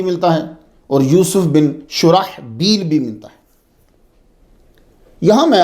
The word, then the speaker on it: شرحبیل: شرجیل کوئی لفظ ہو۔ یہ تلفظ اصل میں شرحبیل ہے، یہ سب سن لیجئے۔ اور وہ صحابی جو مشہور ہیں ان کا صحیح نام شرحبیل بن حسنہ ہے، شرجیل بن حسنہ نہیں ہے۔ کیا نام ہے؟